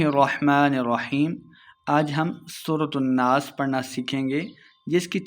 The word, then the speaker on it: الناس: ساتھ ملائیں گے۔ برب الناس، نون مشدد پہ ہم نے غنہ کرنا ہے اور آخر پہ وقف کریں گے۔ برب الناس، مالک الناس،